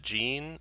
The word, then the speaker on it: Jean: Okay, and then last is it Jean or Jean, or how's that pronounced? You could pronounce it John.